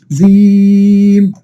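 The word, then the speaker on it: جيم: তো প্রিয় শিক্ষার্থীগণ, আপনারা অবশ্যই জানেন যে হরফগুলো যখন আপনারা আলাদাভাবে উচ্চারণ করবেন, তখন অবশ্যই একটু কি টেনে পড়তে হয়। কিভাবে? জিম, জিম, জিম।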